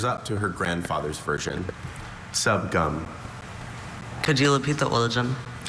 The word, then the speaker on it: subgum: It's from Cantonese, a Chinese dialect. Subgum. It's got two schwas.